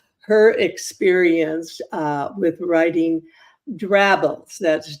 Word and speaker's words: drabbles: experience uh with writing drabbles that's g r a BB l s rhymes with scrabbles and how did you